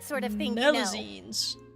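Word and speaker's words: Melusine: Melazines. That's how you pronounce it.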